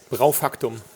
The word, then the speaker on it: BraufactuM: BraufactuM. Okay. Yeah. So there's a hard M and a capital M on the back of the back of your name, which I was struggling with. So BraufactuM.